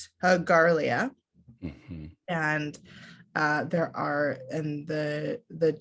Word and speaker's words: Garlia: But it's Garlia, and there are, and the two meanings of Garlia.